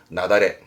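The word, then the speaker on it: 雪崩: 발음이 중요합니다. 나다레. 이건 특별음으로 읽어요.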